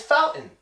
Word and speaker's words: fountain: what about number 12 does this one get the Putin team well it does its fountain fountain no your mom might